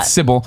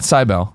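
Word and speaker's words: Cibele: you didn't know that it's called cble not cbel not to be cute either any way you spell it you're going to find the game and get it and it's spelled c i b e l e I've learned to say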